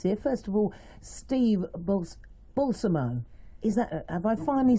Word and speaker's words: Balsamo: First of all, Steve Balsamo.